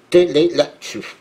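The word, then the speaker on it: Tleilaxu: Télélaxu. C'est comme ça que ça se prononce.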